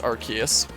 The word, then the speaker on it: Arceus: As I like to say it, I know the proper pronunciation is Arceus.